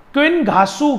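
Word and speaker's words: qinghaosu: That is थोड़ा सा मुश्किल होता है प्रोनाउंसिएशन में, हम एक बार लिख लेते हैं. क्विन घासू के नाम से ये जानी जाती है, QINGHAOUSSU.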